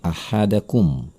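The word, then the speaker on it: أَحَدَكُمْ: Lalu perhatikan kata ahadakum dan biwariqikum. Ada mim mati bertemu dengan huruf ba. Ini adalah ikhfa syafawi. Maka cara membacanya adalah dengan mendengungkannya dengan sengau dari dalam hidung selama 2 harokat. Ahadakum biwariqikum.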